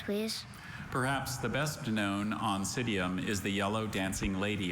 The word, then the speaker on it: Oncidium: Perhaps the best known Oncidium is the yellow dancing lady orchid. Are there any alternate pronunciations?